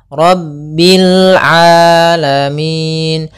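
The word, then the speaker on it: العالمين: di sini huruf Ain hati-hati jangan sampai merubah huruf ainnya menjadi Hamzah banyak yang terjadi kesalahan pelafalannyau mengganti dengan Alif atau Hamzah dibaca rabbil alamin harusnya rabbil a rabbil alamin alamin ya rabbil alamin Kemudian pada lafal Min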